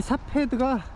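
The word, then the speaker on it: Safed: 4패드가 16세기 유대교의 중심지였어요 근데 지금은 바람이 4패드가 아니고 영어식 발음인 것 같고 히브리어 발음으로는 스파트인 거 같은데 이게 뜻이 움막이란 뜻이래요 그래서 이게 위치가 갈릴리 호수 북서쪽으로 한 7km 떨어진 지역인데 이 4패드가 그 중세 때 십자군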